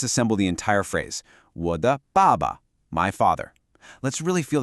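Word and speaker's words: 爸爸: Let's break this word down. The first syllable, ba, is a fourth tone. It's sharp. It's a decisive fall in pitch, almost like a command. Ba. Then the second syllable is a neutral tone, so it's light and unstressed. This pattern is super common for family members. So al together we have baba.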